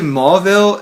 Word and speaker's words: Mauville: I got to Mauville, and Mauville's been reconstructed now. It's not spelled Mauville like mall. It's spelled like M-A-U-ville, but it's like a mall now, like M-A-L-L.